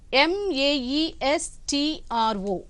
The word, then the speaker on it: maestro: are going to learn some words see here m a e s t r o mro this is pronounced as Maestro say after me all of